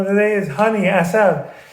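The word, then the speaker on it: عسل: Persian word of the day is honey, asal. Asal, honey, 2 syllables.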